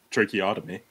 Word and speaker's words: tracheotomy: __ ] i can't say you say it tracheotomy tracheotomy to help him breathe hopefully i said